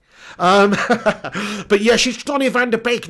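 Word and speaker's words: van de Beek: says i'm dutch and it's not pronounced van der beek not beak sorry it's pronounced van der beek not beak okay my bad yeah donny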